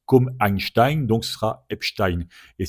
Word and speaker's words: Einstein: Euh alors, tu le prononces Einstein tout simplement.